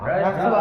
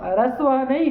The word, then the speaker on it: ह्रस्वः: ह्रस्वः नहीं ह्रस्वः। ह्रस्वः। थोड़ा ह का उच्चारण हल्का सा करो हाँ। तो आ जाएगा ह्रस्वः।